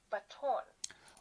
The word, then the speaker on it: baton: So, once again, right, pronunciation, the second syllable is our stress, baton.